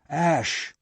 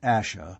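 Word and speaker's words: Ashe: return to the hill ash not asha but ash ross though sure of that pronunciation was still cautious you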